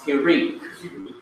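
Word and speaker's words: Hiriq: Sometimes it is spelled C-H-I-R-E-Q and pronounced Hirik. It is the short I sound as in lid, I, or pit, or fit, or kitten.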